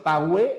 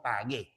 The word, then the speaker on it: pagué: En la palabra pague no hay diptongo porque la u no se pronuncia. Recuerda que tiene que pronunciarse la u si hubiera dicho pagé, ahí sí, ¿no? Pero obviamente no es pagé, sino pagué.